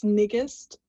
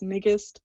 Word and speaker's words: Ngiste: It's Nigist, rhymes with biggest, so that's Nigist.